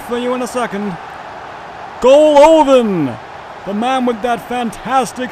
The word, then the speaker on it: Golovin: Also, it's almost certain that his name is pronounced Golovin.